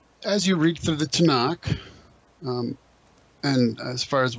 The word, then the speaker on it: Tanakh: love acrostics okay and tanak is an acrostic referring to the three traditional divisions of the old testament right torah nevi'im and ketubim and so to nook ends up just being pronounced as tanakh so that just refers